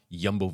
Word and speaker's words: Jumbo: team is he on yumbo visma yumbo visma yumbo I I've I've caught Flack from people and I've said it too jumbo it's not jumbo it's yumbo it's not movie start